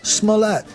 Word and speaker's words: Smollett: jesse smellet story i just learned how to pronounce his name smollett lisa i want some more it's not that